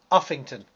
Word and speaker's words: Uffington: Uffington.